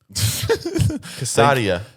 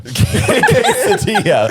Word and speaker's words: quesadilla: Casadia. Quesadilla. Quesadilla. And that's Wait, Casadia is kind of cool. No, but is it pronounced quesadilla? It's pronounced quesadilla.